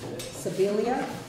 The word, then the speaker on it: Sibilia: Number five is Laura Sibilia. Did I pronounce that properly?